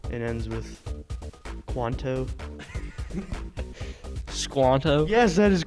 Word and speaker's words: Squanto: was not tom is squanto john no steve it rhymes with pronto if that helps toronto no it's squanto